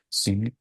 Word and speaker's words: jin: Euh je je le prononce comment ça s'écrit Jing mais ça se prononce signe euh c'est le la relation avec les tendons et les ligaments d'un point de vue biomécanique en fait.